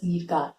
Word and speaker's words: Sircar: Please remember it is pronounced as Sircar.